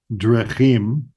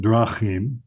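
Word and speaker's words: דְּרָכִים: So instead of saying derech drechim, all right, it's derech drachim, et cetera, et cetera.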